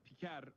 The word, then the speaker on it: Piker: It's normally Pikar, but still, like, it's pretty funny that he's going out of his way to deliberately mispronounce it, which I love.